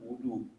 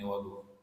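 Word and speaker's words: وَضُوء: Wadu itu adalah air yang digunakan untuk wudu namanya wadu. Jadi wadu ini memang begini. Jadi ini telit nih ya bukan bukan enggak tidak sengajaan ada fathah di sini wadu jadi bacanya tetap wadu kalau yang wudu wudu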